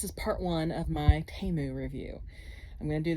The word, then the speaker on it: Temu: I'm trying out this I think it's pronounced taemu t-e-m-u and apparently it's supposed